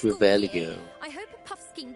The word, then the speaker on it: Revelio: It's not Revelia. It's Revelio.